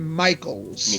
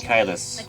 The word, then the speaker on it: Michaelis: A Faustian contract with his demon butler Sebastian Michaels. Michaelis.